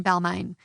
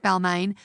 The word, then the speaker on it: Balmain: In 2004, I was working at a really shitty dress shop in Balmain, not the European brand pronounced Balmain, rather a suburb in the inner west